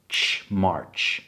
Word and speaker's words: March: Słychać tu dosyć istotną różnicę pomiędzy brytyjską wymową a amerykańską z racji tego, że mamy r, który się pojawia po samogłosce, więc w brytyjskim, angielskim nie wymawiamy tego r. So jest ma. Jest taka długa, fajna, otwarta samogłoska. O i potem ma. Amerykanie wprowadzają ten r. March mar. Natomiast to jest mimo wszystko angielskie miękkie r, nie takie polskie r, nie marcz.